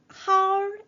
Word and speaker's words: 好: 네, 전에도 한번 설명드린 적이 있는데 how, 삼성이지만 네, 중첩이 되어서 사용이 되어질 때는 네, how 이라고 읽어주어야 합니다.